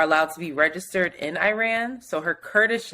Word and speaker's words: Iran: not Iran Iran because I keep saying Iran like the people on CNN and it's Iran apparently um protests are still